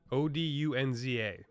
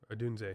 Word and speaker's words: Odunze: By the way, Dad, if you're watching, watch the highlights of Rome Odunze, Rome Odunza. E. Yeah, Odunze. Yeah, I pronounced it right, said it wrong.